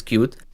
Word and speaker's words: Qt: pronounce it for example a qt is cute and uh and it's